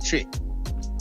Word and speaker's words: Twi: to the pronunciations in Tri. You understand? Because it's not pronounced. Even though it's spelled T-W-I, it's spelled like a C-H. It's pronounced C-H, Tri.